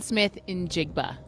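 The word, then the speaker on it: Smith-Njigba: So Jackson Smith Injigba injigba like a Did I pronounce it right?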